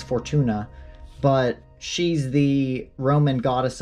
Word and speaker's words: Fortuna: Fortuna or Fortune Fortuna not sure what her how you say her name I think it's Fortuna but she's the Roman